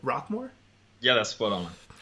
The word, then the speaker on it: Rocquemore: Did I pronounce that right? Rocquemore?